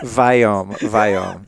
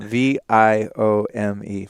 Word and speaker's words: Viome: Viome. So how do you spell that? Yeah. V-I-O. Is it two M's? M-M-E? One M. V-I-O-M-E. Viome. It's like biome, like gut biome, but Viome.